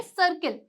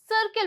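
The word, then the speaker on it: circle: जैसे कि यहां पे सर्किल हम इसे क्या बोलेंगे? सर्किल बोलेंगे। क्योंकि यहां पे आई से पहले क्या आ रहा है?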